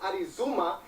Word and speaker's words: Arizona: well first of all it's pronounced arizuma which was uh invented